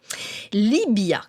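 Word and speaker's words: Llívia: Libya que l'on écrit avec un V mais qu'on prononce avec le son B est perché à 1224 m d'altitude au cœur des Pyrénées orientales sur 13 km².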